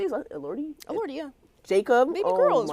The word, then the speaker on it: Elordi: How do you say his last Elordi?